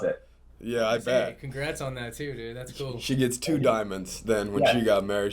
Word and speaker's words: Dimond: for you guys Diamond is that right did ice did I pronounce it right ready now they're kind of like the rock that all the women you know definitely want on their hand huh but spelled a